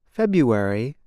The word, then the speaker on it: February: the word for example the month February is said like this February the R is not pronounced instead speakers make a yuck sound now you try it